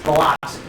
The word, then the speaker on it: Biloxi: It's Biloxi. All right? Just like Mobile, Alabama, it's spelled mobile.